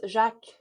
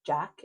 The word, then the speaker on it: Jacques: It's Jacques. And I think spelling it the French way, if you have French ties or you just like that spelling, but then just pronouncing it as Jack in English is really cute.